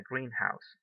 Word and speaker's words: greenhouse: live in a greenhouse but this is greenhouse the stress is in the first syllable greenhouse and this one green house it maintains the stress in both words okay a greenhouse greenhouse